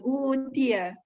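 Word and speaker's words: أُوتِيَ: U-nya panjang. Utia.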